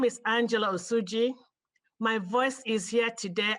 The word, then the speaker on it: Osuji: Up next, we have Angela Osuji, and on deck we have Kate Rosak. Angela Osuji, and please correct my pronunciation if that is incorrect. Thank you, Madam Chair. My name is Angela Osuji.